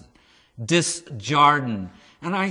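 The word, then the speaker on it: Desjardins: in the film okay i always had a hard time pronouncing the last name because it's french and i used to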